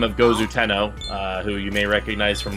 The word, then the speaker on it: Gozu Tenno: Worshipping a deity by the name of Gozu Tenno, who you may recognize from Nocturne. Except for some reason, the localizers decide that his name is pronounced Goes to Know.